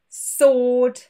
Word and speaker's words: sword: And of course, a few random words to answer, sword, and two.